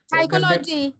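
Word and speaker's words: psychology: नया नया सीखा आजकल साइकोलॉजी ले हा साइकोलॉजी साइकोलॉजी में पी कहां से आता है ठीक है अच्छा प्लंबर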